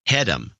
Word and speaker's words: Hedham: My last name is pronounced Hedham.